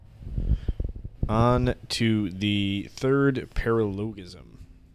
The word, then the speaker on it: paralogism: I heard somebody say pronounce it uh paralleism. It kind of seems more right, but I'm going to stick with paralogism. Uh, but it's fine. Uh, anybody can say it either way they want.